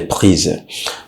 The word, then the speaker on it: prise: And that also changes the pronunciation. Okay, that's what I'm saying. La décision que j'ai prise. Okay, the Z. La décision que j'ai prise.